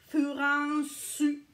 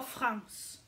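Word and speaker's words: フランス: Au niveau de la France, c'est Furansu. Furansu. OK? Si vous venez de la France, Furansu. OK? Dites pas France.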